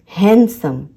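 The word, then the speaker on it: handsome: ये जो डी है ये साइलेंट होता है। हैंडसम, हैंडसम। आपको एन तक ही प्रोनाउंस करना है, डी को साइलेंट रखना है और उसके बाद है सम।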